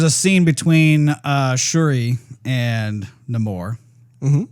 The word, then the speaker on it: Namor: There's a scene between Shuri and Namor. Mm-hmm. He was pronouncing his name differently though. Was he? Yeah, he's like Namor, but everybody called him Namor. And in IMDb, it says like it's Namore, I think.